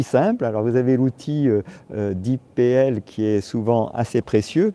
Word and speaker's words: DeepL: Alors vous avez l'outil DeepPL qui est souvent assez précieux parce qu'il s'avère,